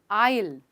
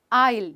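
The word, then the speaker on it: aisle: उसको हम कहते हैं आइल आइल जी हां यहां पे एस जो है वो साइलेंट है तो रिपीट कीजिए मेरे साथ आइल आइल यानी एक गली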